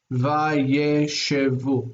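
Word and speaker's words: וַיֵּשְׁבוּ: Remember this word here, if we're syllabifying, it has that there because this is, the accent is on the last syllable.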